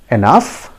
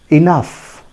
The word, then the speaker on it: enough: help you it is many of us pronounce it as enough or in a different way but i tell you the correct pronunciation is enough try to mark the sounds friends listen to me carefully it is pronounced as enough enough see the phonetic